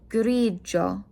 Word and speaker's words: grigio: G-I-O will sound like a Joe. So this is grigio.